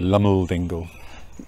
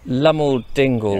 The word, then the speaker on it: Loamhole Dingle: Or as it's pronounced around here, Loamhole Dingle. Loamhole Dingle.